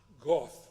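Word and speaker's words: Gough: The award that's going to Haley Goff, that's spelled G O U G. I have to be told it's pronounced goth because you can pronounce o u gh g about six different ways.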